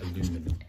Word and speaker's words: aluminium: So, like aluminium, Americans say aluminum.